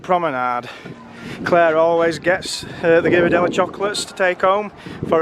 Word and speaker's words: Ghirardelli: I don't know how you pronounce that. It's Ghirardelli.